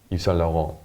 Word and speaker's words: Yves Saint Laurent: Yves Saint Laurent.